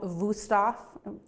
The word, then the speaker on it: Wüsthof: a German brand called Wüsthof. It has a W, but it's pronounced with a V.